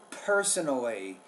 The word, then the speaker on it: personally: personally I've okay per personally you want to produce that P with more air personally prior to take